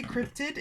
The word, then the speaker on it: cryptid: For some reason, when I say cryptid, it sounds like I'm saying cryptic. But no, it's definitely cryptid.